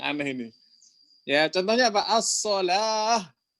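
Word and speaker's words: الصلاة: As-shalah. Ya, tulisannya wow, bacanya alif.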